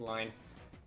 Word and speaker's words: Line: For a while, I would, like, pronounce it whenever I said it out loud or even in my head, Line. Don't ask why, but I did get confirmation that it is supposed to be pronounced Line.